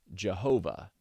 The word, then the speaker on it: Jehovah: YHWH, often pronounced Yahweh or Jehovah.